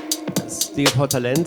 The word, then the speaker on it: Stil Vor Talent: Stil Vor Talent. That's how you say it in German.